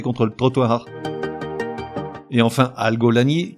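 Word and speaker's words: algolagnie: Et enfin, algolanie, qui s'écrit comme ça se prononce, A-L-G-O-L-A-G-N-I-E.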